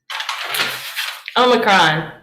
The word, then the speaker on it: omicron: it's now c o omicron makes a short o sound basically off pop yeah because omega makes a long o sound um so here we